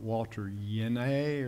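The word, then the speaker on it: Walter Jehne: I'm listening to a guy, Walter Jen's how I say his name, but Walter Yene or something like that's the correct pronunciation.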